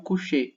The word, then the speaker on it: couché: O segundo, talvez mais comum também, seja o couché, né? E pronuncia assim, inclusive.